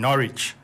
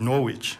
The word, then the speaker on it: Norwich: about um the town norwich yeah uh and i'd pronounce it norwich yeah um and it's obviously having a sign on silent w so so no no